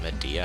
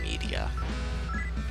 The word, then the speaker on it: Medea: I wonder how many people mispronounce Medea as media.